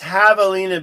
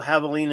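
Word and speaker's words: javelina: So, it's pronounced Havalina because the J is a hot in espanol. And so, Havalina is pronounced without the J.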